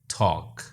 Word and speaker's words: talk: ऐसे 3-3 अल्फाज तलाश करके लिखिए जिनमें L, D, G और T साइलेंट हो। L, calf, walk, talk.